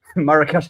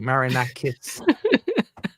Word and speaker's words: Marinakis: Marrakesh has eaten Ange Postecoglou. Or at least say his name properly. Marinakis.